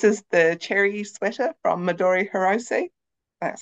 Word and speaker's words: Midori Hirose: This is the cherry sweater from Midori Hirose.